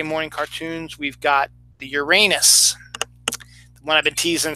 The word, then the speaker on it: Uranus: And it's pronounced basically Uranus, but everyone calls it Uranus.